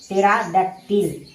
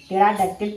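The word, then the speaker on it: pterodactyl: पी टी ई आर ए डी ए एस टी वाई एल यानी इसे क्या पढ़ेंगे? टेराडक्टिल। टेराडक्टिल पढ़ेंगे। यहां पी जो है साइलेंट है।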